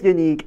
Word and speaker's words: Yannick: It's this unique is pronounced unique, but I do know someone that is named Yannick. But because of Yannick's roots, yeah, it's pronounced unique.